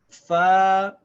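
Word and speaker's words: فاء: red is called and this is pronounced exactly like the letter F in English the name is fire and the sound is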